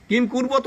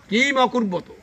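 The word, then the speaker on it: किम् अकुर्वत: উচ্চারণ শুনলেন আপনার, কিম কুর্বত না, কিন্তু কিম অকুর্বত।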